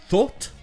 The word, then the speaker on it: thought: Déjà, 2 prononciations. En anglais britannique, ce sera avec le son O de door, thought, et en anglais américain, ce sera avec le O de trough et not qu'on a vu tout à l'heure, thought.